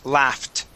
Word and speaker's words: laughed: word is interesting because it has a GH and G actually makes an F sound all right so the word is laughed last okay um yes